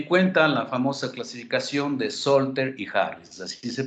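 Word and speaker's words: Salter-Harris: tomen muy en cuenta la famosa clasificación de solter y Harris así se pronuncia estos son los autores que clasificaron y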